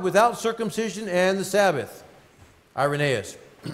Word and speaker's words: Irenaeus: Irenaeus, I always call him Irenaeus, but Irenaeus is how you say that.